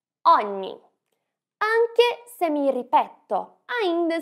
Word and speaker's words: ogni: E aqui a gente tem a pronúncia do GN, que é igual à pronúncia do NH em português. Ripeti dopo di me. Ogni. Ogni.